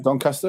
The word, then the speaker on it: Doncaster: Doncaster.